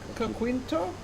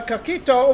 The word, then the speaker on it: coquito: It's coquito?